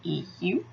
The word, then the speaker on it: Euler: His name is Euler, but his name's spelled E-U-L-E-R. But it's pronounced Euler, but it's spelled with an E first.